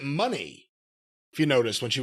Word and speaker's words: Moné: And actually, she pronounces it money, if you noticed when she was talking.